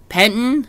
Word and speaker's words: Pettine: It's Mike Pettine is how they pronounce it.